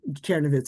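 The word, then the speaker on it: Czernowitz: It has different names in different languages and I can't pronounce them so I'm not going to Cherovitz is how it's pronounced in German.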